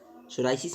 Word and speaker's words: psoriasis: बारे में पढ़ेंगे देखिए सोराइसिस सोराइसिस में पीस साइलेंट है ठीक है सोराइसिस की